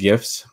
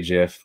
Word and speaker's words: GIF: so you get onto gifs and it is pronounced gifs because i say so um you're also correct if if you say jiff but i will fight you so just you